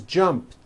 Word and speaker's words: jumped: So jump becomes jumped with a T sound at the end. Jumped. Of course, the word is spelled with an ed ending. It's just pronounced as a T.